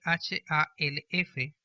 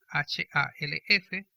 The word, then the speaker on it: half: Y este es uno de esos casos, porque la palabra mitad en inglés se escribe H-A-L-F, pero se pronuncia sin la L.